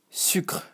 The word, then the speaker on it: sucre: So with the main accent of France, you would say sucre. We almost forget about the E, It's even, imagine it was just written like this, there is no E, and you just say sucre, The C is like